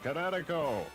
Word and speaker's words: Kinetico: Oh, son, you should have remembered kinetic as in kinetic energy with an O on the end. Kinetico.